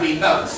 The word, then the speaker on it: remote: Number 13 is where the stress on the second syllable. So it's about remote.